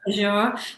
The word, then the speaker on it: Azure: play with some of the tools, which I pronounced wrong, Nick. So it's actually Azure.